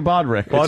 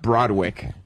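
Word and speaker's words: Broderick: Matthew Bodwick. Pronounced Broadwick.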